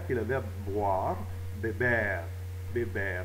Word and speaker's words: beber: Beber. Beber. Ça finit par un R, donc une consonne qui n'est pas S ou N, donc l'accent se fait sur la dernière syllabe. Ce n'est pas béber, c'est beber.